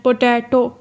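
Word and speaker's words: potato: पोटैटो में हम किस पे, ये ट्राई सिलेबल है, इसमें 3 सिलेबल मौजूद हैं और इसमें हम दरमियान वाले सिलेबल पे ज़ोर डाल रहे हैं। पोटैटो ट पे हम बहुत ज़ोर डाल रहे हैं।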